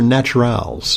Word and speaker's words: Naturals: Is it naturals or naturals? It's just naturals. Okay, great. It's a French spelling. It's spelled with an ES on the end.